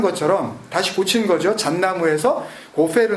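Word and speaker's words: גֹּפֶר: 다시 고친 거죠 잔나무 고페르 나무로 히브리 원음을 뭐 우리 말에 F 발음이 없으니까 뭐 우리 우리말로 최대한 가깝게 이렇게 그냥 기록해 주는게 훨씬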